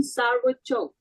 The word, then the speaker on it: Sauciuc: It's Carmen Sarvo Choke. This is how she pronounces her name.